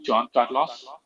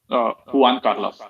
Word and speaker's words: Juan Carlos: respond most likely L John Carlos Juan Carlos that's the right way to say it to caros I think